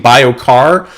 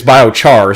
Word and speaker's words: biochar: I was I was saying bioar and it's biochar.